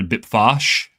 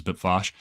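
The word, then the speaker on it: Bpfassh: in the Sluice sector, Bipfosh, or however you say it. That's how I pronounce it, was Bipfosh.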